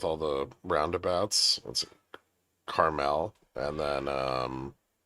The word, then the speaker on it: Carmel: It is caramel. It's spelled that way. It's not caramel, which is the candy.